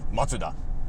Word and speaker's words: Mazda: pronouncing it wrong, Mazda, we're both pronouncing it wrong. It's actually something like Matsuda.